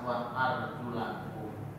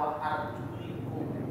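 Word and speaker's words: وأرجلكم: Menurut bacaan mayoritas, wa arjulakum. Wa arjulakum. Tapi sebagian baca wa arjulikum.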